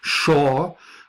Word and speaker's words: Shoah: Hebrew names in it Shaw which is the pronunciation of the Hebrew words that we normally spell Shoah shoa and that comes from